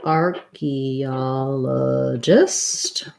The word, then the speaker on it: archaeologist: lastly lima's asking about so archaeologist we have black cat vowel arc archie ah stress on the o syllable so arc archaeologist i